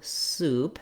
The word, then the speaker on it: soup: So thinking about it, if we rewrite it with the letters oo, soup, and we think about that tense oo sound, that might help our brain know how to pronounce it.